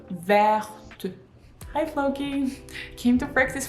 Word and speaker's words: vert: at the end, but because T is quite often not pronounced at the end of the words, it is silent. With this E added, it becomes pronounced.